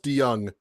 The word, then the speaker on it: DeJong: Uh, it's it's actually Dutch. So, um, it's actually pronounced D. Young has so many different spellings and, uh, but this is the OG spelling.